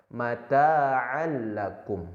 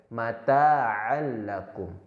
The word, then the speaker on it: mata'al lakum: Namun tidak ditekan, tidak dibaca seperti ini. Mata'al lakum. Nah, itu melebur namun ditekan. Nyatanya idgham bila gunnah ini melebur tapi tidak ditekan. Jadi cara membacanya mata'al lakum, hanya diayun saja, mata'al lakum.